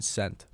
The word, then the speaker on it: scent: Is the S or the C silent in scent? SCENT. Scent. The C.